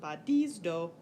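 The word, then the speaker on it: βαδίζω: So in our sample verb badizdo, you'll notice the last syllable is long, which means the acute goes on the penult, and you get badizdo.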